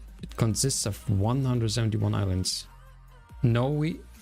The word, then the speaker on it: Niue: Noe, it's called... Yeah, I can't pronounce it. Noe, it's more like Noe, right? Nui? It's more Nui.